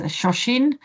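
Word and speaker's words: 初心: so you see here a word that is shashin this is how you pronounce it I asked to a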